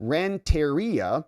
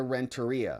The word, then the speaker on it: Renteria: struck by the fact that the attorney general pronounced the name Rentaria in a peculiar fashion. That's not how you say her name. Like everybody knows her name. And she says like Amanda Rentaria.